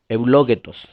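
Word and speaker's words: εὐλογητός: Ahí aparece en el idioma original una palabra que se pronuncia eulogetos, que se traduce como bendito.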